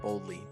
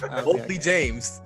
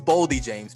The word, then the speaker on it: Boldy James: I said Boldly. Boldy James. I could change that. It's Boldy James, people.